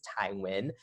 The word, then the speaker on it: Thai Nguyen: very easy to pronounce thai is like thai food win is like you know the most popular last name out there it's like a smith in in in america and so i decided